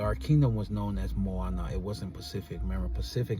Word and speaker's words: Moana: So, Moana, you know, not more like the movie, but the name Moana. Moana is known as the ocean in ancient times, right? And Moana is two syllables in words, two words.